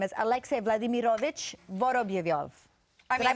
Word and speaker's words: Vorobyov: Alex, from Wikipedia, it says your real name is Alexei Vladimirovich Voroblyov. Did I pronounce that right? Obviously, that's right. Almost perfect. How do you pronounce your last name? Alexei Vorobyov, Vladimirovich.